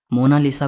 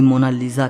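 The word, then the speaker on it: Monna Lisa: सही स्पेलिंग यह है को इसे मोना लिसा कहता है तो कोई मोना लीजा कहता है लेकिन इटालियन में इसकी करेक्ट प्रनंसीएशन है मोना लीसा इसका मतलब होता है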